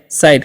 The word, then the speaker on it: site: उसी प्रकार से SITE है, तो इसे हम पढ़ेंगे साइट, क्योंकि आई का उच्चारण आई होगा।